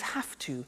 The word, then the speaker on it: have to: pronunciation I have to notice I don't say V I say F have half it becomes half to have the two becomes